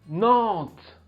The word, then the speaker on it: Nantes: and if la sixième plus grande ville fait nantes le f ne se prononcent pas nantes l'un des monuments les plus connus de nantes